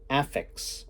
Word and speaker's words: Aphex: I thought about is if you say AFX AFX really fast AFX then uh it actually you you actually pronounce affix affix twin well not twin but affix